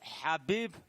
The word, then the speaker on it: Khabib: And my man, Khabib, just in case, if you don't know how to pronounce his name, I recorded something special for you. No Khabib. Habib Abdulmanapovich Nurmohamadov.